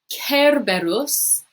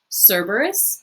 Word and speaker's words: Cerberus: six grumio est cocos and then number seven kerberos and again we have that c where in